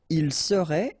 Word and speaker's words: serait: Il serait, elle serait, final T not pronounced.